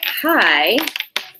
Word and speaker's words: high: The G is silent. And the H. So if we see our word high, look at it right here. This I-G-H says I. Just I. I.